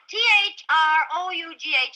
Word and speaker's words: through: T-H-R-O-U-G-H is pronounced through.